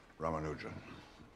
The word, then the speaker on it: Ramanujan: Ramanujan. Am I pronouncing that properly?